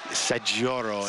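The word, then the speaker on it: Saggioro: Leonardo Sajoro, did I pronounce it right? Sajoro, yeah, his nickname is Cascao.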